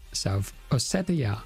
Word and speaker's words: South Ossetia: Oh, that's how it's pronounced in English. South Ossetia.